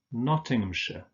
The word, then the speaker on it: Nottinghamshire: Remember that ham is just pronounced so Nottinghamshire.